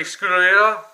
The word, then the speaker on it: Scuderia: Reverb, Chevy Camaro, Special Edition, 2013, RD02, 49 Mercury Convertible, 16 Angels, Nerve Hammer, Ferrari 430 Scuderia, that's how you pronounce it, Swamp Buggy, Dodge Viper SRT, High